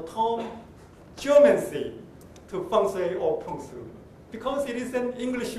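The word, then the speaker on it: 풍수: it is about briefly the punsu in korean or sometimes we use pongsujiri but that is a kind of korean way of pronouncing chinese concept called the fungus but the chinese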